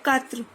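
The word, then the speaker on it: quatre: 4, कात्र, 4 को हम बोलते हैं कात्र।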